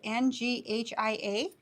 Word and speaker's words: Nghia: They're from, I don't believe you pronounce the N, but it's NGHIA.